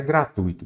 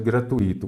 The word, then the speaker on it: gratuito: E neste caso, então, aqui, a forma correta de separar é gratuito, deixando junto, sem acento. Errado, nada de gratuito, gratuito.